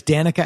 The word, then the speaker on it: Danica XIX: now currently known as Danica XIX yes the 19 is silent it's fancy the xix